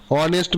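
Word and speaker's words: honest: আর অনেস্ট এইচ হওয়া সত্ত্বেও ভাওয়েলের মতো সাউন্ড করা সত্ত্বেও তার আগে অ্যান বসবে।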